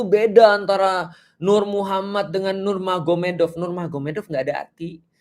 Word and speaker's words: Nurmagomedov: Jadi tulisnya magomet tapi bacanya Mahomed kan gitu kan ya. Jadi Nur Magomedov itu jadi Nur Mahomed.